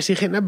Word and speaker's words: Sijena: como six en asilo pronunciaremos con la pronunciación actual así que bueno digo